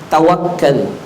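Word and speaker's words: تَوَكُّل: Yang kedua, kalau kita ingin barokah, rezekinya, yang kedua, tawakal. Harus tawakal. Tawakal pakai kaf di tasjid, tawakal. Karena kalau bacanya tawakal itu artinya pura-pura tawakal.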